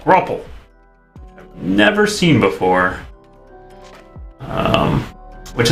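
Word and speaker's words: graupel: time I encountered grapple which I think I was mispronouncing as grapple but gruple never seen before um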